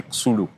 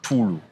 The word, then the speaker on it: Xulu: So someone could go and say Xulu because he has seen X. But X in South Africa, in Xhosa, is pronounced as T. So the name is Samkelo, then you say Tulu.